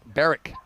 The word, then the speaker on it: Berwick: watching from Melbourne and berwick's actually pronounced like Barrick yeah Matt McKenzie from